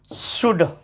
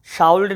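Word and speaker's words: should: और देखोगे आपको ये सब शब्द तो सुने होगे आप, कुड, शुड, उड। इसको काउल्ड नहीं पढ़ना, शाउल्ड नहीं पढ़ना, वाउल्ड नहीं पढ़ना, इसको पढ़ोगे कुड, इसको शुड, और इसको उड।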